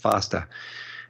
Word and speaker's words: FEASTA: David Korowicz wrote, I think it was July 2012, an excellent analysis for the FASTA group. That's FEASTA, but pronounced FASTA.